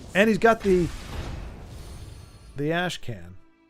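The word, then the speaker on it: Ashkhan: Is it is it pronounced Khan, though? I feel like it should be pronounced Khan. I think it said can can but Oh, he says it's for the Ashcon. He does say con. Okay. It's just unfortunate. It looks like can.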